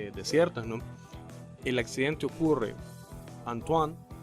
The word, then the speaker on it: Antoine: El accidente ocurre, Antoine, ¿se pronuncia bien? Sí, sí, perfecto. Perfecto, Antoine.